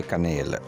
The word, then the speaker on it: canal: इस लफ्ज़ का सही तलफ़्फ़ुज़ है कनेल।